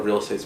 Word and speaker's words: Real Estate: Well, first I wanted the band to be Real Estate, with the accent on the estate.